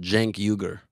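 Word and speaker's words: Cenk Uygur: you say biggest online news in the world Jen yuger Jen yuger yep well podcast in the large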